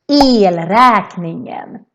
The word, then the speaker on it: elräkningen: In Swedish, that would be elräkningen. Elräkningen. And here the E sounds very long because we have just one consonant coming after.